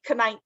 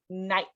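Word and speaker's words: knight: way we don't say kite although that would be fun it's just night and night nighttime like dark outside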